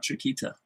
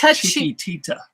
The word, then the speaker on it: Chiquitita: It's not Chiquita. It's Chiquitita.